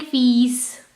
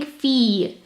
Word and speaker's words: filles: Remember, I'm not saying fils. No, I'm just saying filles. Il y a deux filles. You should know this pronunciation because we've done it in the previous videos. Il y a deux filles. I-double-L is E.